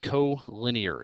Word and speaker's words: collinear: to as collinear okay tough word to pronounce there but co-linear is the correct way okay array is a